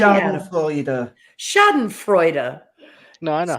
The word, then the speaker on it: Schadenfreude: Schlastenfuden. I just Yeah. what did you just say? Adam? Schadenfreude.